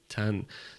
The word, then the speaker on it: 잔: Chan. Toma cuidado com a pronúncia, tem que terminar com esse N, né? Chan. Faz um N no final aí.